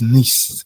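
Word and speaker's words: nichts: So it's it's niched it's nish like nish plus s but because it's difficult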